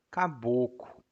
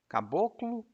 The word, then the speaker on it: caboclo: os cabelos lisos e a gente também pronuncia Caboco Caboclo Caboco bom e qual era